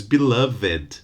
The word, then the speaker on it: beloved: the adjective is wicked beloved is a good one because there is the verb love and the past of Love is loved okay love ends in a voice sounds on the finally these loved but there is no verb to beloved so the adjective that you're looking here is beloved my beloved ones okay the same with